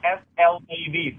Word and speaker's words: Slav: It's S-L-A-V, Slav.